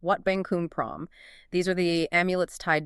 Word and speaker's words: Wat Bang Khun Prohm: That's pronounced Wat Bang Khun Prohm.